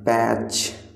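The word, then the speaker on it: patch: धब्बा का मतलब है पैच। पैच, आपका पैच में जो साइलेंट लेटर है वो है टी।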